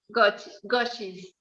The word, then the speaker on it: Goxi: you do so you are the artist behind gucci garden right is that how you pronounce it i don't ever think i've heard it yeah goshi's garden garden yes and she creates the most